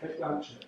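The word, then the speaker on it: Blanchett: the Rings how did you say her name Blanchet Blanchet thank you I was saying it it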